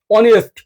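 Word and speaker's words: honest: কারণ এইচ এর উচ্চারণ অ এবং আ হয়ে গেছে। কারণ অ এবং আ হয়ে গেছে। যেরকম আওয়ার, অনেস্ট, অনার্স, এগুলা কি?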